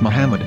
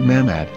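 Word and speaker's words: מחמד: yehuda's hebrew english dictionary it is correctly pronounced as muhammad not mahmad so how we're going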